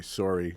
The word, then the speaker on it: Sorey: I will point out that I'm saying Tyshawn Sorey just to be consistent with what most other people say and the way I've pronounced it over the years. But at home, you say Sorey. Some of us say Sorey. Some of us say Sorry.